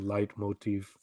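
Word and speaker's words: Leitmotif: you the musical term light motive right this is from vagian Opera it's like a repeated um Musical Motif it's German so light Motif oh yeah okay but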